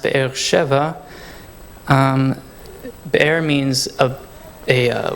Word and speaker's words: Be'er Sheva: here we have bear-bear sheba in hebrew that's pronounced Be'er Sheva the air means of a well and the